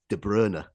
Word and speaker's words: De Bruyne: Bruyne in or I fully we're calling him De Bruyne. I'm I'm actually like this next season as to what to call him because of course the correct pronunciation is De Bruer.